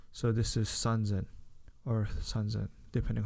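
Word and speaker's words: 三千: San zen. Okay, san zen. San zen. Okay, so this is sanzen or sanzen, depending how you want to see it.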